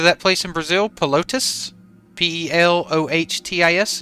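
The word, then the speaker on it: Pelotas: Pelotis. Pelotis. Okay. Hey, Zane, have you heard of that place in Brazil? Pelotis? Pelohtis is how you pronounce it.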